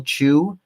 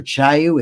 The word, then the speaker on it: Chiu: By the way, the article was written by Rachel Chu, I believe it's pronounced, or Chiu. It's CHIU. It's on the Foundation for Economic Education, so anybody can read it if they're interested in it.